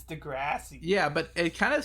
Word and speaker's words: Degrassi: The the other day, speaking of Degrassi, or like I found out I've been pronouncing it kind of wrong. I think I've been saying like Degrassi. It's Degrassi.